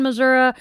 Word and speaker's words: Missouri: County, Crawford County, Sullivan, Missouri, and Big Piney River. And the reason I pronounce it Missouri, and I have learned that this is depends on the part of the state you come from, whether it's Missouri or Missouri.